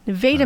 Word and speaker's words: Nevada: on yes so I'm originally from nadaa Missouri Nevada Missouri okay so I Nevada by the way